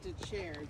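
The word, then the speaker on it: Dethier: accepted i don't know his name is david de chair but it's d d-e-t-h-i-e-r it sounds like a french death eater that goes to chairs how you pronounce it okay but i worked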